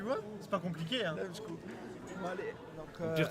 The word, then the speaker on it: D4MSZCZKU: Alors, avant que Flo s'énerve, prononce son pseudo pour moi. C'est Dame Shkou, c'est ça? Damskou, ouais. Ah, tu vois? C'est pas compliqué, hein. Dame Shkou.